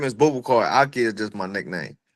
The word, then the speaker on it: Boubacar: Bubble car. Bubble car. But then I see Aki a lot. Yeah. Okay. So, which is it? That just it's Bubble Car. Okay. My real name is Bubble Car.